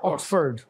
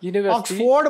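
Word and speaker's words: Oxford: ऑक्सफ य ऑक्सफर्ड या ऑक्सफर्ड ऑक्सफोर्ड बहुत सारे हमारे लोग कहते हैं ऑक्सफोर्ड नहीं ऑक्सफर्ड ऑक्सफर्ड यूनिवर्सिटी एब्लिश इन 11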